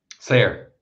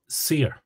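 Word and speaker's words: saor: for Ben and myself if we say uh the word for free for example s-a-o-r how would you pronounce that Ben Sayer Sayer so I would say seer okay there's a definite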